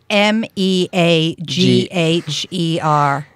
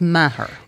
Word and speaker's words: Meagher: and so yeah FB , hers and its m-e a GH ER and we had to redo this a couple of times because we pronounced it correctly it looks like Meagher but it's matter yeah yeah it's common confusion happens all the